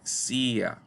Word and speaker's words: CIA: Se escribe sin tilde a pesar de pronunciarse CIA, con un hiato que exigiría acentuar gráficamente la I.